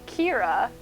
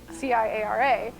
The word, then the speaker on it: Ciara: Irish because number one, my name, though is pronounced Ciara, is spelled like the Irish name Ciara, C-I-A-R-A, but it's Ciara and Kieran being the male version of it.